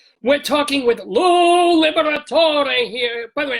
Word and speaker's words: Liberatore: But since then, I've always pronounced all the letters as most of the Italian words are, the Liberatore. So I say Liberatore.